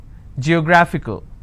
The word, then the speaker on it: geographical: ICAL. Geographical. How many syllables do I have? Geographical. Now this fickle is coming up to 2 syllables, right? But this will still be combined as word ending, and this is the stress. Geographical.